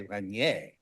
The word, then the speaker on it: Regnier: And Emilie Regnier, I'm going to assume it's pronounced that way but if I were French, I would say Regnier.